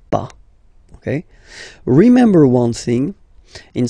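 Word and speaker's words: pas: after that pa okay we write it p s okay but as usual final s is not pronounced so it's pa okay remember one thing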